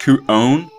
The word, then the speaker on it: Kuon: Actually, I think it's pronounced Kuon, because the O sound always goes O in Japanese, but I've already started using Kuon.